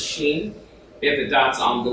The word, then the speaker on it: Shin: That's the right way to pronounce it, as sheen.